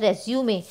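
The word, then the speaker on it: résumé: लेकिन जो यहाँ शब्द आ रहा है ये है रेज्यूमे। ये ई के ऊपर हल्का सा आप एक लाइन देख रहे होंगे जिसकी वजह से ये प्रोनाउंसिएशन ए जैसा हो जाता है, रेज्यूमे।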